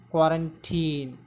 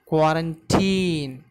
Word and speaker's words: quarantine: Quarantine. Here the stress is given on very first syllable, that is k.